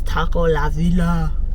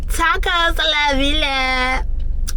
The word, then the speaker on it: Tacos La Villa: This is Taco La Villa. Why did I say it like that? Tacos La Villa.